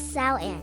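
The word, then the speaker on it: Samhain: parts of Europe celebrated a festival called Samhang, pronounced as Sao.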